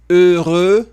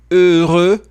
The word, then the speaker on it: heureux: Nous serons heureux. Dois biquinhos. E essa palavra ela é difícil de pronunciar. Heureux, por conta do R. Heureux.